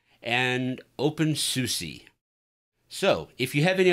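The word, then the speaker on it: openSUSE: drill it into my own memory the correct pronunciation is Debian and open SUSE so if you have any other feedback comments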